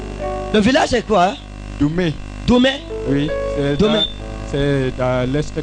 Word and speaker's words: Doumé: Je ne peux pas prononcer comme vous. Djoume. Il dit qu'on ne dit pas Djoume. Ok, venez vite. Come. Bon. Ok. Comment? Doumé.